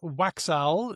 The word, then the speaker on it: Waxal: It looks like Waxowl. W A X A L. It's a Wallof word. It's a word in the Wallof language.